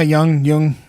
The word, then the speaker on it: Jung: Young? Is that how you say it? Yeah, Jung, either way.